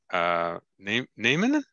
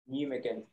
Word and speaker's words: Nijmegen: Get here and to go to Nijmegen. How do you say that again, Martin? Nijmegen. Yes. Nijmegen. Nijmegen, isn't it? It's Nijmegen. Nijmegen.